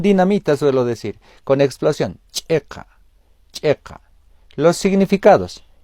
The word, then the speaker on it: chiqa: tres palabras hilata cuyacanacamisaki Checa Checa Checa en el primer caso como con la che que conocemos en castellano en el segundo haciendo